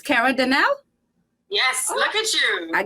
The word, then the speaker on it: Kerra Denel: know you all know i'm not good at pronouncing names so she got to fix this but it's kara danelle yes look at you i get it good